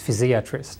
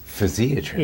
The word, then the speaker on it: physiatrist: physiatrist so actually I've been taught the correct pronunciation is physiatrist physiatrist yes which uh and it's basically a you